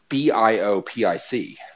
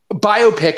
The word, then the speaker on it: biopic: I've pronounced this as biopic. Like, you do not. Like about bio. You do not. Honest to God, I don't have to tell you. I do. So you've always pronounced that biopic? That doesn't make sense. Not like biopic, like it's some kind of myopia.